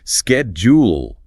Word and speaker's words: schedule: Americans hit it with a hard K sound. Schedule.